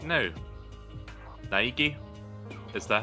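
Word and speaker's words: Naegi: I'll hammer it into your brain right now Niki is that how you say it yeah Nigi Nigi she just keeps repeating my name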